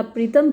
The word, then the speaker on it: पूरो: तो पूरो की स्पेलिंग कहीं POORO दी रखी है और कहीं PURO दे रखी है, क्योंकि ये उपन्यास ओरिजिनली तो पंजाबी में लिखा गया था। इंग्लिश में इसको खुशवंत सिंह ने ट्रांसलेट किया है, तो कई जगह स्पेलिंग डिफरेंट है। विकिपीडिया पर PURO दे रखा है और यहाँ POORO दे रखा है, लेकिन जो नाम है लड़की का वो पूरो है।